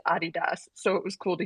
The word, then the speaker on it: Adidas: the time, which is Adidas. That's what we say, but the proper way to pronounce it is Adidas.